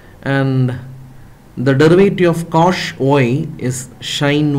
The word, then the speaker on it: cosh: hyperbolic function here and the proper way to pronounce this is cosh X sine X dynamics etc I can check